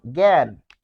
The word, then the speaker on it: জ্ঞান: তাহলে সেটি হবে এরকম এটা হচ্ছে আদিতে আর এখানে শেষে হবে গ হসন্ত গ চন্দ্রবিন্দু যেমন জ্ঞান দেখুন এই শব্দ এটাকে